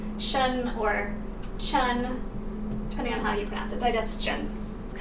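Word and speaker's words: -tion: So we're gonna focus again on T-I-O-N, because shun, which is how T-I-O-N is pronounced, is a really common word ending.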